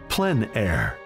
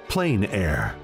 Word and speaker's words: plein air: open air or Outdoors the French pronounce it plan air others say plain air no matter how you